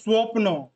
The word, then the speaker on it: স্বপ্ন: Sound आता है, जैसे क्या क्या आता है, ব ফলাতে যেমন স্বপ্ন, এখানে ওর উচ্চারণ হচ্ছে স্বপ্ন।